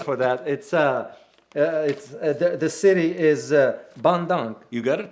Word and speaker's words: Bandung: The city is Bandung. You got it correct. Bandung. Oh, Yeah. It's hard to pronounce, but the point in this is that